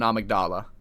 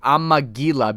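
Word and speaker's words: Amygdala: it was AIG like amila because I didn't see the D there and for some reason I thought it was pronounced with e like an eel I don't know why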